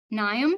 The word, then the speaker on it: Niamh: Okay we have Niamh, and please correct me if I'm mispronouncing your name. Okay you're fine. Um Neve um I was just wondering a little bit